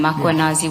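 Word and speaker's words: Mkhwanazi: Do you see the title of the document draft for MMC iPad Makanazi just as you pronounce his name Makwanazi with the A.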